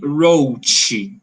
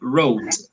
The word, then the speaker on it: wrote: repeat wrote vote yeah we don't say rochi we say wrote yeah it's a it's